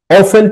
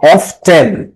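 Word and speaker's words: often: মা অফেন প্রায় বা অফটেন তোমরা এটার উচ্চারণ অফটেন করতে পারো অফটেন টক প্রায় কথা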